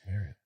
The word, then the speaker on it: Marriott: said it right, Marriott.